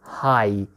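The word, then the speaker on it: Hai: you know always ooh so ah plus e is also i okay so look at here my my or hi hi means shark my means may white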